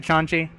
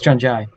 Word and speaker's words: John Jai: is it John G? It's John Jai. John Jai. I've always heard it John G or Jongy. That's because people keep mispronouncing it.